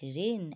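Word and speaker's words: reign: এস আই জি এন কিন্তু জি এর কোন উচ্চারণ হবে না ডিজাইন হবে ঠিক আছে ন্যাট হবে জি এন এটি ন্যাট রেন আর ই আই জি এন রেন রিজাইন আর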